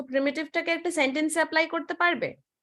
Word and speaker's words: প্রিমিটিভ: হ্যাঁ ম্যাম, এখানে একটা ওয়ার্ড রয়েছে প্রাইমিটিভ। আচ্ছা, এইটা প্রিমিটিভ। হ্যাঁ। এটার এটার আমি যে ওয়ার্ড গুলো যাচ্ছে আমি হাইলাইট করে দিচ্ছি। তো এইটার প্রোনাউন্সিয়েশন হচ্ছে প্রিমিটিভ, ঠিক আছে?